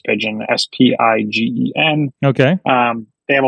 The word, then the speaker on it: Spigen: I think it's pronounced Spigen, S-P-I-G-E-N.